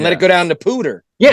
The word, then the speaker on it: Poudre: I had to look it up because it's spelled Poudre. So I'm like, how the hell? I'm like, how the hell do you pronounce the name of this river without screwing it up? And I looked it up, and it said they were saying Poudre on the news. It's the Poudre River.